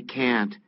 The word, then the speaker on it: can't: can't No I can't 여러분 티 발음 거의 안 들려요 그러니까 내가 I can't I can't 이거를 기대하시면 그건 그냥 영원히 안 들립니다 그런 발음은 존재하지 않으니깐요 같이 한번 따라해 볼까요 나 못해 No I can't No I can't 이런 식으로 약간 쥐어 듯이 발음하고 티만 살짝 발음해 주시면 돼요 다시 한번 뭐라고요 No